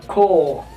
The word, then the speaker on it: core: Atau contohnya juga seperti kata apa ya, misalnya ya nih inti core bacanya ko gitu.